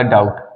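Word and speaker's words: doubt: क्या होता है संधि यहां देखिए भाई इसमें टी है टी से पहले बी आया इसमें हमने डी ओ य टी सभी का प्रोनंसिएशन किया बस बी का प्रोनंसिएशन नहीं किया ठीक है तो यहां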